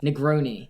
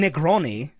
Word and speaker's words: Negroni: Negroni. That is Pronounce that correct. one right, yeah. Yeah. Oh, okay. You could say That's it. Negroni.